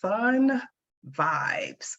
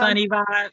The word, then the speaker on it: Sunny Vibes: She has entitled herself Sun Vibes, which I love. Am I pronouncing that right? It's Sun, sunny vibes, sunny Sunny vibes. Vibes.